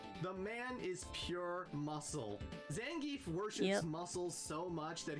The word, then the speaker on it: Zangief: Well, actually, his name is pronounced Zangf, but I've been calling him the gef since I was 6 years old, and it's really hard to break that habit.